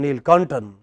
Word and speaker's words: Neelakantan: If somebody is called Neelakantan, then Ni is higher than Kantan, but the same Hindi speaker would call him Neelkantan.